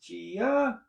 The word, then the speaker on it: Jiya: It's Jiya, Jiya, pronounced Jiya.